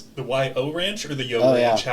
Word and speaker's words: YO Ranch: The YO Ranch or the Yo Ranch? Yeah. How is it pronounced?